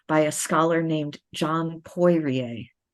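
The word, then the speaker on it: Poirier: published in 2021 by a scholar named John poier p o i r ier and it's called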